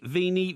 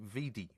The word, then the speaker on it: vidi: Veni, vini, vici. That's wrong. It's Veni, Vidi, Vici. Yeah, thank you. Right. It's not Vini.